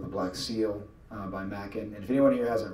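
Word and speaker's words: Machen: someone like and I'm not sure I'm pronouncing his last name right, Arthur Macken or Arthur Min. Oh absolutely it's Macken.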